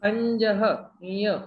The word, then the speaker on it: खंजः: How to pronounce that? Kanjah. That is ka cha cha ja jha. Punch, like खंज, like that. खंजः, खंजः.